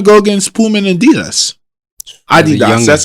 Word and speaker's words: Adidas: Adidas. That's how you pronounce it properly.